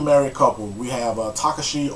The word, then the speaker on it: Takashi: a couple we have Takashi or tekashi depending on how you pronounce it I say Takashi we have Takashi and